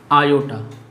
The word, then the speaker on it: iota: एक अल्फ़ाबेट है और जिसे प्रोनाउंस किया जाता है आयोटा से। आयोटा, IOTA, आयोटा।